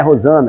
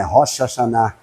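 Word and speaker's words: Hoshana: A gente não fala Rosana, mas não é Rosana, é Rocha Chaná. E aí foi se traduzindo, se traduzindo, virou Rosana. O Rocha Chaná quer dizer salve.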